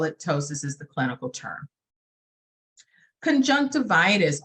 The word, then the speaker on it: ptosis: next one down is ptosis that p is silent on ptosis is for a droopy